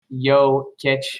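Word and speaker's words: Jokić: brooklyn definitely grant um his name is pronounced yo kitsch matt i know uh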